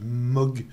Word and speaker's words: Moog: au modèle d ailleurs qui se dit pas mouche non plus un nazi moque mais bon c'est pas très grave donc on